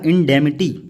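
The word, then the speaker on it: indemnity: इंडेमिटी, इंडेमिटी पढ़ेंगे मेरे भाई, एन यहाँ पे क्या रहेगी, साइलेंट। क्या पढ़ा जाएगा, इंडेमिटी।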